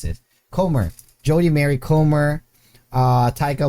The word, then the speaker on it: Comer: uh jodi ko komar corner how do you pronounce it comer jody mary comer uh taika waititi lily ray